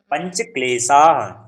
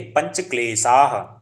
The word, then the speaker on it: पंच क्लेशा: द्वेष अभ वेशा अभिनिवेश पंच क्लेशा पंच क्लेशा हा आका उच्चारण भी पंच क्लेशा पंच क्लेश सह नहीं स में थोड़ा सा क्या होता है आपका आ का उच्चारण छूट जा रहा क्या है पंच क्लेशा